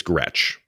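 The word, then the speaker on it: Gretsch: not we're just confusing things so it's it's Gretch it's Gretch thanks for coming thanks for coming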